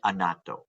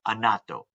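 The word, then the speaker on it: annatto: things you're going to see Palm rice and anato right as I mentioned earlier from Palm and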